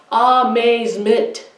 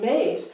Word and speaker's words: amazement: So now, where do we hear the stress in amazement? Okay, we hear the and no one goes around saying, how was that movie? I was in amazement. I think it's more, the stress is more on the second syllable, maze.